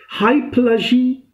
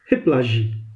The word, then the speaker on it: hypallage: L a GE but it's pronunciation is high plushy either or hip lashing it means that it